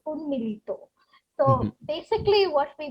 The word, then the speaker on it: উন্মীলিত: So if I do not pronounce it in a very anglicized way, it's Unmilito.